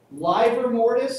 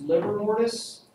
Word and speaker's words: livor mortis: Livor mortis, sometimes pronounced liver mortis, also sometimes shortened to the word lividity.